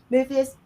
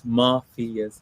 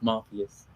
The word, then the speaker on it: Muffius: want to am I am I pronouncing the name right is it muus no you're not no you're not it's everyone gets it wrong but it's mafus mafus everybody is mafus